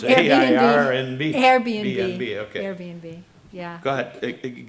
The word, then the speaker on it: Airbnb: And you you talked about the renters being screened by AirNob or I I don't know how to pronounce it RNB. Airbnb.